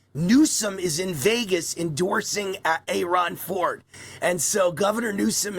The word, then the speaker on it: Aaron: A I think he pronounced it Aon uh Aaron Ford. Aon Ford gets he gets mad when you call him Aaron Aon Ford.